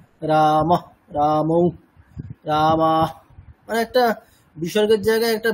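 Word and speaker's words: রামঃ: আচ্ছা হ্যাঁ ম্যাডাম পড়ুন বিসর্গ বিসর্গের উচ্চারণ হকারের মত হবে যেমন রামহ এখানে উচ্চারণটি হবে রামহ অর্থাৎ যে স্বরবর্ণের পরে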